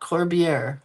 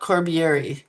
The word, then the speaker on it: Corbier: Corbier. I learned how to pronounce it. She said it's Corb. So it's not Corbiieri like I've been saying forever.